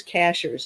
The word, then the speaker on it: Cashiers: probably get to it the last word is Cashers it's spelled just like a cashier at the grocery store actually cashiers is a Mountaintop town here in Western North Carolina where I live and that's where we